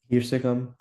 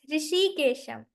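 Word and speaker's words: Hrishikesham: Hirshagam. What? Hirshagam, like controller of all senses. Or did I mispronounce that it? is Rishikesham. Oh, Rishikesham. Rishikesh, you can say Rishikesham.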